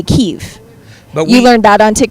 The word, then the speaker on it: Kyiv: if you don't know kiev is how russians say right the city right ukrainians say kyiv you learned that on